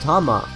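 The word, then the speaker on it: 玉: However, more commonly, Dama can mean ball or sphere. In this case, it's usually pronounced Tama.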